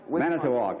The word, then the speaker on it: Manitowoc: charles ziemer an assistant sales manager from manitowoc manitowoc that's right i said it right are you